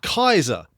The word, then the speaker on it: Caesar: 2,000 years later, they're using his name as Kaiser, which is pretty much how it would have been pronounced in the days of Julius Caesar in the Roman Republic.